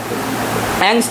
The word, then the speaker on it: angst: एंगस्ट इसको पढ़ते हैं, कुछ लोग अगास्ट भी पढ़ते हैं, ANGST। चलो इसको लिख लेते हैं क्योंकि यहाँ पे सारे वीडियो कट रहा होगा ना। हाँ सही में, ANGST, इसको कहते हैं एंगस्ट।